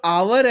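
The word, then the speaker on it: hour: बी a back तो जो आवर है यहां पे एच ओ यू आर जो घंटे होते हैं तो इसमें जो एच है वो हमारा होता है साइलेंट और जो हमारे पास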